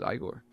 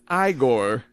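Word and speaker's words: Igor: monster Daniel Radcliffe was i Gor it's pronounced I Corr oh that's great I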